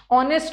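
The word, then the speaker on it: honest: ऑनेस्ट में भी ऑनेस्ट नहीं होता। एच साइलेंट है।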